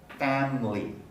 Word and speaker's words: family: of different syllables so the word family originally three syllables family the middle syllable second syllable is unstressed family so that would be pronounced with a schwa family but many speakers delete the schwa and pronounce family family family is quite a normal pronunciation family the same is true